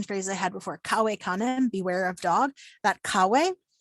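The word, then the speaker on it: cave canem: back sort of to the the list of pronunciation phrases i had before kawaii kane beware of dog that kawei that's an imperative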